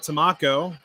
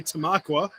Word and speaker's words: Tamaqua: and i'm an idiot i actually used to call tomaqua tomaco i had no idea i'm just an idiot from baltimore that moved up to pennsylvania and i had no idea how to pronounce tamaqua so i called it tamako and then i got my uh verbally butt kicked by a a tamaquin and uh so now it's officially tamaqua it will always be